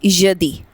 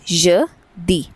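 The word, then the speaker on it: jeudi: वी से इट एज मेरकदी मेर क्र दी मेकदी then the next one is Thursday we से इट एज यदि सो य दी यदि फ्राइडे वी से इट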